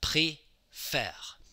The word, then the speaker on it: préfère: We have préfère. Pré, end of a syllable, E accent aigu, faire.